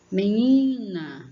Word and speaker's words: menina: Menina, menina, como se você estivesse chamando, você vai ver que é o ni.